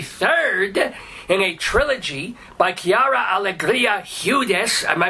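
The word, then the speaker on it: Quiara Alegría Hudes: this is the third in a Trilogy by Kiara Allegria hudes am I pronouncing that right by any chance yeah oh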